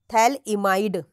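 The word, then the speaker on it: phthalimide: क्या बोला जाता है इस ग्रुप को बोला जाता है बच्चा थैल इमाइड मैं इसकी स्पेलिंग लिखती हूं पी एच टी एच ए एल आई एम आई डी ई थैल इमाइड बोलते हैं किसको इसको इस ग्रुप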